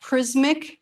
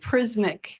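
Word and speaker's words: Prismiq: example of sealed airs prismic technology if you haven't heard of that and it's spelled p-r-i-s-m-i-q so it's spelled a little bit different prismic is how it's still pronounced I believe though and it's a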